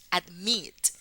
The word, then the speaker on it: admit: Admit tiene la sílaba tónica, la sílaba acentuada en la I. Admit.